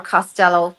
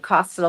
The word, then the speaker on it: Costello: And then, or Costello, as you say here, I pronounce it Costello, being Irish.